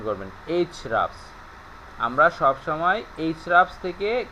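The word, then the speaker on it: Ahrefs: আর ই এফ এস এইচ রাফস উচ্চারণটা হবে এইচ রাফস এভাবে উচ্চারণ করবেন এইচ রাফস আমরা সবসময় এইচ রাফস থেকে কেজিআর কিওয়ার্ডের সার্চ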